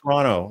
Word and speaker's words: Toronto: how you say it it's pronounced Toronto like the movie Tron you know Tron Tron